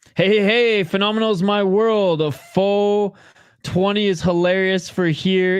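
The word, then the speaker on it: phở: You pronounce it foe. But yeah, apparently it's supposed to be pronounced fa.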